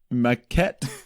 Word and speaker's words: Maquette: chill, and so I decided to dive into Maquette. Nice. I don't know if I'm pronouncing that right. I believe that's You nailed it. pronunciation. Yeah, Maquette, Maquette.